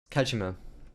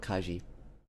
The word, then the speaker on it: Kajima: Kajima, not Kai.